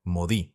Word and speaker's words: Modi: artistas malditos tanto que su apodo pasó a ser modi de las primeras letras de su apellido pero cuya pronunciación se asemeja a la palabra francesa maudit que significa maldito modigliani tenía una personalidad impulsiva